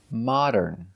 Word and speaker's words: modern: has a good Ambiance let's look at the pronunciation of this word modern modern so it's not correct to say this they're mod and cool that's right we cannot say modern Mo it's not the long o Mo it's the short O